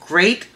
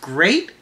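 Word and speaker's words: Greyt: me this company called great I hope I'm pronouncing that right is g-r-e -y-t so I'm thinking it's pronounced great great for gray hair so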